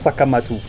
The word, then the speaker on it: Sekhmet: And Sekhmet could also be pronounced in an African language as Sakamatu.